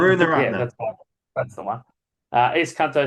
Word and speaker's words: Karunaratne: they picked the Sri Lankan ex-Test captain, Dimath Karunathre. Oh, sorry, Alan. I don't know how to pronounce his name. It's pronounced different to how Karunaratne. it's spelled. It's spelled different. Yeah, Karunaratne.